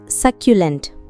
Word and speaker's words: succulent: Hi friends, இன்னைக்கு நாம பார்க்க போற வேர்ட் சக்யூலென்ட். இந்த வேர்ட் எப்படி ப்ரொனவுன்ஸ் பண்ணணும்னா சக் யூ லென்ட்.